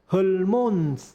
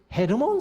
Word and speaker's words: 헤르몬: 복을 명하셨나니 곧 영생이로라 그래서 헐몬 하는 것은 사실 헤르몬 산입니다 본래 이름은 헤르만산이라 하는 그런데 아마도이 헤르모온 하는 것이 발음이 자리 안 되니까 을몽으로 그렇게 발음을 한 것 같은데 아무튼 거기에서 하나님이 복을